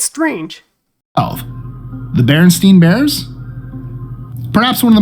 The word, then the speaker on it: Berenstain: Many think it's Berenstain Bears, with EI, which is fair. That's usually how it's pronounced.